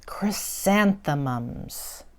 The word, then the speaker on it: chrysanthemum: them these are called chrysanthemums can you say that it has four syllables four little sound bites in it let's see kri san the mum chrysanthemum but people often give